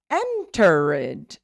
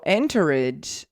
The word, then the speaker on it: entered: Because when you look at the word enter, we have enter, 2 syllables. Entered has 3 syllables. So if you put an extra syllable there, you might disrupt the whole rhythm. And not to mention that you're adding a syllable where there isn't none. So entered is not entered.